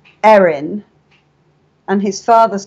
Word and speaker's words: Erin: his mother is called Erin, and his father's called Aaron. But in America, they pronounce Erin, Aaron, so they're Aaron and Aaron.